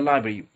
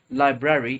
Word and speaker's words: library: We're not saying went to the library as, and also we're not pronouncing library, it's library. Library.